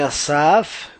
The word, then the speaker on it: Asaf: Meu nome é Asaf, comigo está o Mutlu, e a propósito Asaf é A-S-A-F, e Mutlu é M-U-T-L-U.